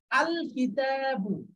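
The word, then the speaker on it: الكتاب: আল যুক্ত হলো তখন এই শব্দটির লামটা স্পষ্ট উচ্চারণ করতে হচ্ছে। দেখেন আল কিতাবু, আল কিতাবু।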